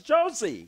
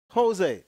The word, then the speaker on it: Jose: I can't pronounce it one negro said it was Josie no it's Jose it's Jose SP Jose